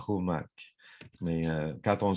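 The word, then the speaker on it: Qumak: Exemple, si je prends Noah Kumak, alors si je dis Kumak, ils vont tous partir à rire. Ça s'écrit Q-U-M-A-K. Alors, la prononciation exacte, c'est Noah Humak.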